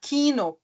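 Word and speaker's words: Kino: ela de forma longa por exemplo a palavra Quino tá Quino k i n o Então veja que depois do I da vogal I vem o n que é uma consoante e depois de novo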